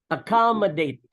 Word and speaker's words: accommodate: first one, as you type, we would, for certain words, we pronounce the double C as KS. And for other words, we would pronounce the double C as K. Okay. Or a hard K.